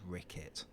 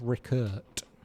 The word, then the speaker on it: Rickert: I was once an established Who names their child Rickett? It's Rickert. Rickert. R I C K E R T.